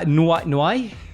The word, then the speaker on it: Noé: But there were some cool stories, including Mr. Noé. That's how you say it in Italian. Noé jumping 3 grades to send 9A.